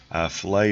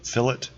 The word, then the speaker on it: fillet: and your chamfer command so that looks like it's spelt filet filet is what you eat whenever you're eating catfish for a catfish fillet in autocad we call it fill it and it's a fileted